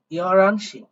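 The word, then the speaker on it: 열한 시: আমি জানি যে আপনারা অধিকাংশটাই জানেন, তবে এটা মনে রাখবেন এটার উচ্চারণ হবে ইয়রানশি।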